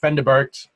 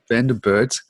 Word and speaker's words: Van der Burght: Close enough. Vanderburt, something like that. Vanderburt. I'm familiar with Vanderberg, but you've got the extra bits on the end. So Vanderburt.